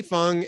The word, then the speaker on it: Fang: uh you know Lee Fung and uh I believe you pronounce it it's spelled Fang but I think he pronounces it Lee Fung and Ken klippenstein note